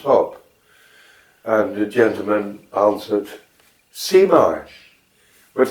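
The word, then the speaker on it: zie maar: So, and it's spelled Z-I-E, and a mar is the separate word, is W-M-A-A-R. Cmar. Yeah, C is your eyes, and Mar is you sort it out.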